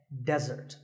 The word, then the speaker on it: desert: be confused with desert here the stress is on the first syllable which is death desert now I said that